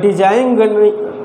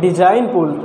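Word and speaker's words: design: आपका इस साइलेंट इसको हम लोग डिज़ाइन नहीं पढ़ते हैं डिज़ाइन बोलते हैं इसमें क्या है जी लेटर साइलेंट है यह कॉमन सेंस के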